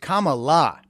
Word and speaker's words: Kamala: Yes, the comprehensively incapable, well, her name is pronounced Kamala.